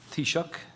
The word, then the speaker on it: Taoiseach: Thank You Toby and 10 out of 10 for your pronunciation of Tisha which is an Irish